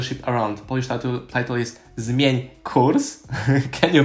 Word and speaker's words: Zmień kurs: Polish title is Zmień kurs. Can you pronounce it? Zmień kurs? Zmień kurs.